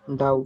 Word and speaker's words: doubt: Doubt. Doubt. Doubt. It's doubt. Doubt. And which letter is silent? V. B. B. B. B. B is silent.